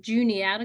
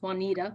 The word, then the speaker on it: Juniata: and I'm currently at Juniata College that's the one that often gets pronounced Juanita but it's Junior out of college in central Pennsylvania we